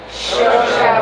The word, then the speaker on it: Seoirse: Seoirse was on his own.